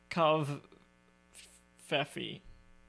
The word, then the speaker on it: covfefe: then it ended with kav faffi which peop for some reason people pronounce the v silently so it was like coffee or whatever um and